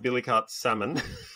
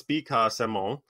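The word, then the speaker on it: Billecart-Salmon: Okay, so this is not pronounced billicart salmon. I mean, if you want to be French and wanky, salmon, it's bicar salmon in French.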